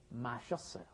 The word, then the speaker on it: 마셨어요: But then when you mash it together and pronounce it like a normal Korean person, you say 마셨어요.